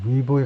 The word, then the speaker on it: Weibo: 우리는 웨이보라고 그러는데 영어로는 이제 위보에 가깝게 발음하죠. 위보.